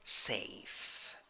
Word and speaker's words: safe: The word safe. Safe. The last letter in this word does not sound.